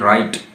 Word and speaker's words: write: इसमें W silent है, डब्ल्यू के बाद जब भी आर आएगा डब्ल्यू साइलेंट हो जाएगा। जिस तरह रेट, WRIT रेट, WRITE राइट, ठीक है। WRONG रॉन्ग, तो WRING रिंग, ठीक है जी।